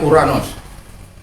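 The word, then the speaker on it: οὐρανός: itu hanya itu misalnya ouranos bacanya uranos bukan orang sporanox Agape bacanya agak lalu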